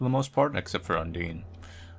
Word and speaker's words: Undyne: In that, essentially, everyone is completely harmless for the most part, except for Undine. Or Undyne, I think that's actually the correct pronunciation now.